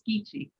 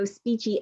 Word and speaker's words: Speechy: I thought it was Skeechy. No, Speechy.